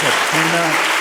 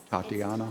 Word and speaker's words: Tatiana: Next is Tatina Fil and uh the topic is 287G. Tatiana.